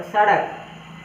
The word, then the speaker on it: सड़क: ड़, ड के नीचे बिंदी दिया गया है, इसलिए उसका उच्चारण ड के बदले ड़ हो जाएगा। ठीक है, तो सड़क।